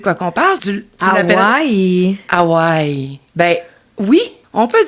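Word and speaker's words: Hawaiʻi: Le petit apostrophe s'appelle un okina. Puis c'est comme un coup de glotte qui sépare les deux syllabes. Donc on va vraiment dire Hawaï.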